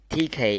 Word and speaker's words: Teké: Teké is more straightforward as it's just Tess and Jake combined with an accent on E, making an A sound from the French pronunciation.